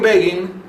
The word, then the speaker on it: Begin: Estados Unidos publicó Menachem Begin, y como Begin en inglés se podría pronunciar begin, empezar, para no confundir, puso entre paréntesis, se pronuncia como Fagin, y anota F-A-G-I-N.